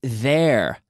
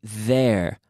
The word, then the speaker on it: there: Be careful with there. The pronunciation, there. Hay que sacar la lengua. There. And I'm moving my vocal cords.